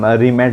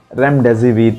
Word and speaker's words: Remdesivir: कुछ अलग अलग ही नाम लेते हैं, रीमेड लेते हैं, देन रेमडेसिविर लेते हैं। इसका ये गलत प्रोनाउंसिएशन है दोस्तों। इसको हम प्रोनाउंस कैसा करेंगे, 3 भाग में हम तोड़ के इसको प्रोनाउंस करेंगे। रेमडेसिविर इसका ये एक्चुअल प्रोनाउंसिएशन है।